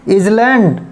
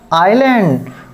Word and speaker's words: island: Wrong pronunciation में इजलैंड गलत हो गया। अब हमको राइट प्रोनाउंसिएशन करना है आइलैंड।